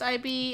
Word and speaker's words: Ib: I've heard of Ib, or is it just pronounced IB?